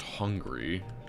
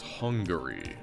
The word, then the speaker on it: Hungary: Isn't pronounced hungry. It's Hungary.